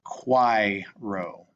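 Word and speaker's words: quaero: Remember how that A-E is pronounced? And resume when you're ready to see the answer. And this would be pronounced quiro.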